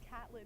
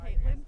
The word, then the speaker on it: Caitlin: Griffin, you butchered everyone. You said Catlin instead of Caitlin for one of them.